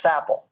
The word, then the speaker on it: SAPL: a standalone program loader or sapl or what a lot of people just pronounce sapple so the Standalone program